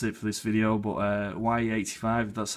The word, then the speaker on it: Wiyy85: But Wiyy85, that's how you say it.